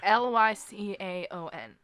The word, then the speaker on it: Lycaon: know how to pronounce I get that it's ly see Aon I see so this